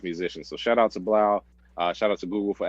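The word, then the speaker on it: 3LAU: find him on Twitter 3 l auau uh pronounced Blau he actually sold his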